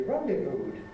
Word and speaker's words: rendezvoused: How do we pronounce the past tense? We rendezvoused. It's got to be, hasn't it? Because if we rendezvous if you like, the last sound is a voiced sound, so for the past tense we have D, rendezvous.